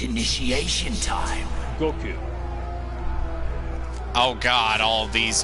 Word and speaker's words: Goku: Goku. Oh god, all of these gentlemen. Goku. Son Goku de. Goku. It's not like a K-E-W.